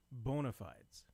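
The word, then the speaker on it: bona fides: in the the Miriam Webster dictionary, the preferred pronunciation of this word in the English language, I know it's not English, but is bonafides. I know you're bonafites.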